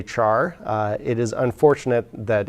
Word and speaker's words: char: unfortunate another unfortunate abbreviation char is of course spelled as though it were pronounced char but character does not begin with the syllable char so some people actually pronounce this car or care most people just say